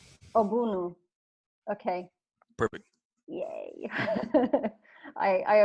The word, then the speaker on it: Ogbunu: how do you say your last name aunu aunu okay perfect yay I I appreciate the the